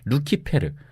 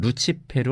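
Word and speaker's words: lucifer: 헬레 리 라틴어 성경에서는 루키 페르 혹은 루치 페루 로 번역된 데에서 비롯된 건데요 루시퍼는 2 루키 페루의 영어식 발음 입니다 이 단어가 원래 라틴어에서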